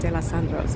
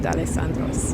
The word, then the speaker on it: D'Alessandro's: critically, at that, D'Alessandro's I was pronouncing it De Los Sandros, but I think a lot of people do. But yeah, it's pronounced D'Alessandro's.